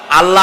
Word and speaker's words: আল্লাহ: জমিনের দিকে আল্লাহর নাম আল্লাহ বলেন তো আল্লাহ আল্লাহ নয় কিন্তু আল্লাহ হচ্ছে অশুদ্ধ শুদ্ধ হচ্ছে আল্লাহ বলার সময় মুখটা গোল হয়ে যাবে বলেন তো সবাই উচ্চারণ